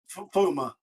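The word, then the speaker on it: Fiume: Now, classic, please, for the love of God, help me out here with pronunciation. Flumen? Flumen? Fuma.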